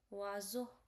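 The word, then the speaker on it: oiseau: means a fish and s will be like z sound. So it will become w zoo. E Au will be like o sound o that I've already told you. Okay. O so it become wo wo means a bird.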